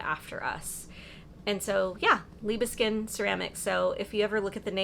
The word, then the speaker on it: Libiskin: how to say it, it's Libiskin without the D. People say Liebeskind, like they really try to sound it out, but no, it's just Libiskin. Libiskin, it's easy.